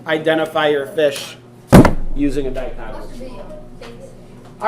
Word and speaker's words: dichotomous: Dichotomous?